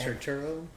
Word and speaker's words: Turturro: john tur what does how do you say it tridoro i don't know the transformer guy the sector seven guys turturro yeah he uh that was